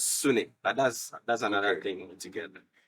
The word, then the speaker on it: sune: In Japanese, shin is pronounced as sune, but that's another thing altogether.